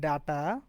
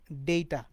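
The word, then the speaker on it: data: সো ডিএটিএ ডেটা, actually এই যে দেখেন যেটা ডেটা, এটার প্রোনাউন্সিয়েশন আসলে ডাটা না, আমরা ডাটা ডাটা করি, আসলে এটা ডেটা, এই জন্য ডেটা লেখা হয়।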